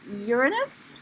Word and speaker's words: Uranus: And I heard it's correctly pronounced as Uranus? Yes. I would accept either way.